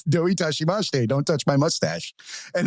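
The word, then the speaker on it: どういたしまして: And the way they teach you to say it is "don't touch my mustache." So it's "doi tashimashite," don't touch my mustache.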